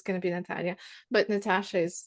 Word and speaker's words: Natasha: it and saying it, the sh sound is easier it is easier to pronounce, and the shape is easier to pronounce than Natalia. Absolutely. That's quite, you need quite clear diction with that, but Natasha's quite a lazy, like a lazy, I'm not trying that hard.